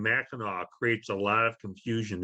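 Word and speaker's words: Mackinaw: It's all pronounced Mackinac, which is an odd way to pronounce something with a C on the end.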